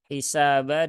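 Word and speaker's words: حِسَابًا: hak ya di sini hisaba dengan yuhasabu jangan sampai keduanya ini tertukar menjadi ha Yuha hisaba hisaba tapi hi ya hisaba hisaba sinnya Ada Alif setelah fathah maka dia dibaca Dua harakat nah kemudian di sini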